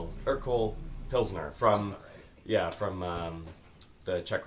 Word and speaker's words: Urquell: now what we consider, I'm going to probably pronounce this incorrectly, but it's Urquell, Urquell, Urquell Pilsner from, from the Czech Republic.